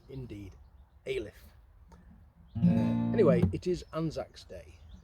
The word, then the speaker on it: Alyth: And we both agreed it sounded like we were saying Alice with a lisp. Anyway, we found out how to pronounce it by the locals, and it's indeed Alyth.